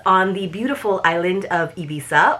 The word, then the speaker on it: Ibiza: It takes place on the beautiful island of Ibiza, or Ibiza, if you want to be super appropriate in Espanol with your pronunciation.